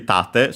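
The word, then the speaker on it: 盾: Actually, tate, so accent on the first syllable, then.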